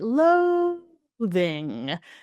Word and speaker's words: loathing: Loathing. Then my first syllable, my stressed syllable is, let's say, stronger in pitch, so higher in pitch, stronger in volume, usually as well, and longer in duration, right?